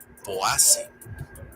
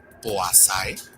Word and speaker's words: Poaceae: Uno, que el diptongo EA se pronuncia como A, cuando en realidad se pronuncia tal cual, EA.